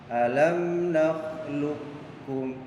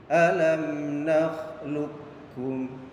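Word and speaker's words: ألم نخلقكم: bertemu dengan kaf yaitu alam nakhluqukum. Jadi cara bacanya qafnya tidak dibaca qalqalah, jadi tidak dipantulkan. Jadi suara huruf qaf itu dimasukkan kepada huruf kaf. Pak Guru contohkan lagi, alam nakhluqukum.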